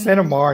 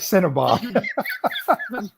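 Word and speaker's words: CENOMAR: So it's Cinnabar, not Cinnabar. Cinnabar, certificate of no marriage.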